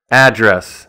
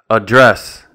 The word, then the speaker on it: address: With the noun, the stress is on the first syllable.